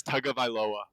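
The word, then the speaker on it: Tagovailoa: two other jerseys dude I learned how to pronounce his last name how do you say it it's tug of iloa yeah I did not know that is I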